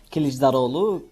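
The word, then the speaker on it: Kılıçdaroğlu: Bueno, lo has pronunciado bastante bien. Se llama Kisdarolu.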